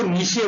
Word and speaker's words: niche: Actually ये जो word है NICHES, इसको नेस, नीशे, निके कई प्रकार से प्रोनाउंस करते हैं, लेकिन इसका हिंदी जो है वो निकेत होता है। हम इसको नीशे बोलेंगे, नीशे करके इसको प्रोनाउंस किया जाता है।